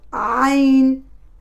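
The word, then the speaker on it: ع: Le point de sortie de cette lettre, c'est le milieu de la gorge.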